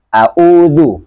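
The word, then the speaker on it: أَعُوذُ: Harus bacanya a'udzu, ya. Di ain harus jelas kedengaran, beda dengan hamzah, kemudian dhammanya juga didapatkan, ya.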